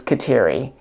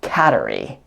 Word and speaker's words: Kateri: is Catherine and so the Mohawk version is Kateri and I've also heard it pronounced Cattery but it's really difficult